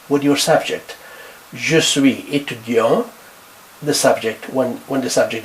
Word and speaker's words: étudiant: Je suis étudiant. You don't pronounce the T.